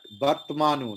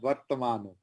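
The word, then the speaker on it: वर्त्मानु: But Vartmanu, not Vartamanu.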